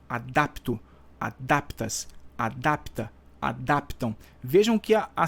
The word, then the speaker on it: adapta: Adapto, adaptas, adapta, adaptam. Então, realmente, a vogal tônica é o A, tá? O A da sílaba DAP está dentro do radical.